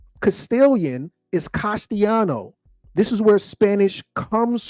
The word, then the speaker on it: Castellano: The double L is pronounced Y. So when I say Castellano, I don't want you to think there's a Y. I want you to think double L. Castilian is Castellano.